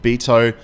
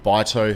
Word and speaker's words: BITO: buy a particular stock called Beto or bito however you want to pronounce it again that basically